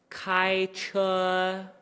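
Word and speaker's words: 开车: It's flat the entire time. 开车. So if that sounds like it's doing something, just train your ear, be like, no, it's not. Reset my brain.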